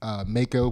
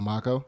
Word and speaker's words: Mako: And then my son's middle name is Mako. He wants to pronounce it Mako instead of Mako.